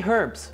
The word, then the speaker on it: herbs: I say herbs, okay? A lot of Americans get mad at me. They say, it's herbs, dude. I'm from Look, the rest of the world pronounces the H in it.